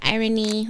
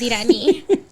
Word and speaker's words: Iran: what do they say they say irony or oh that's irony and like who's irony my name is Iran like they're like irony or like I'm not going to raise my hand until you say it correctly they like to like